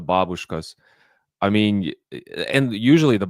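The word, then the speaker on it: бабушка: Americans like to pronounce them babushkas. The babushkas.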